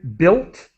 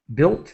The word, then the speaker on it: built: with the word again built built the U is silent built built uh reopened